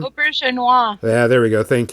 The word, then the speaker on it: Auberjonois: Rene Auberjonois, I don't know how to pronounce his last name. Auberjonois.